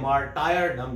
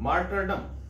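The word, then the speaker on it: martyrdom: ये जो वर्ड है मार्टिरडम, अक्सर स्टूडेंट्स इसको मिस प्रोनाउंस करते हैं, गलत बोलते हैं, कहते हैं मार्टायरडम, जो कि गलत है, मार्टिरडम।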